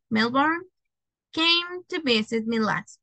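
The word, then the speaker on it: Melbourne: who lives in Mel that would be melbour Melborne is not pronounced the E melbour came to visit me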